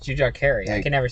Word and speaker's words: Jujhar Khaira: Jujhar Kahari. Jujhar Khaira. Jujhar Khaira.